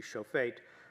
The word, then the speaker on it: shofet: Hebrew pronunciation would be shofet, scribe of the tablets, son of such and such.